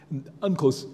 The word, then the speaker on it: UNCLOS: law of the sea unclose as the acronym is usually pronounced uncose is a treaty to